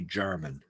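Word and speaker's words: Jermyn: who's the first earl of saint albans henry german spelled j-e-r-m-y-n uh so the german street and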